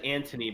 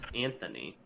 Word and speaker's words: Anthony: about to say uh you said antony but it's anthony so they would never know the h is there it's devilishly brilliant right